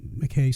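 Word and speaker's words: Mackay: went on to uh McKay School of Mines and Reno yeah Mackey School of Mines sorry that's that's the Eastern uh uh pronunciation I guess but um that's we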